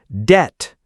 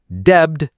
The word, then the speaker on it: debt: Over or under pronouncing silent letters. Knife, not K-N-I-F-E. Debt, not debbed.